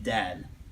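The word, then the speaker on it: ضاد: even though some people some English people's do have a lot of difficulty because it doubt they pronounce it similar to the D all the time and we end up sounding like we're saying D instead of you saying dad right look if you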